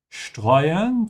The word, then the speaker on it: streuen: Streuen starts with st. This is why you pronounce it as sch.